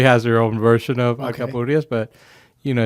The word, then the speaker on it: alcapurrias: Let's talk about alcapurrias. Did I pronounce that correctly?